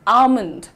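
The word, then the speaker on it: almond: लेकिन आपका प्रोनाउन्सिएशन में एल जो है साइलेंट है। The correct pronunciation is आलमंड।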